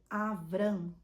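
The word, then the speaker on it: אברם: de Abraão e sarai Abrão que em hebraico é avram que significa pai exaltado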